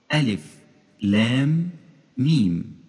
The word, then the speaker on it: الم: فمثال: ألف لام ميم فتنطق بخلاف ما تكتب، فهي تكتب ألم وتنطق ألف لام ميم.